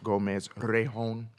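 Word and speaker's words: Gomez-Rejón: and directed by Alfonso Gomez today home I don't say it like that that's the correct way no what was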